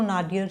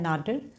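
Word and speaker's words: nadir: एंड इसकी जो British pronunciation है वो तो नाडियर है, और अमेरिकन प्रोनाउंसिएशन क्या है, नाडिर।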